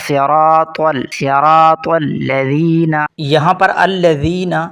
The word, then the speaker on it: الصراط: پہلا لفظ ہے صراطل، صاد بھی موٹا ہے، را بھی اور طا بھی، اکثر لوگ پڑھتے ہیں صراطل، صاد کی جگہ سین اور طا کی جگہ تا جو کہ غلط ہے، درست لفظ ہوگا صراطل، صراط الذین۔ یہاں پر